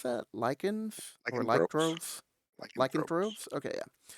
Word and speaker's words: lycanthropes: Like the lycandroves. How do you pronounce that? Lichens or Lycanthropes, lycandroves?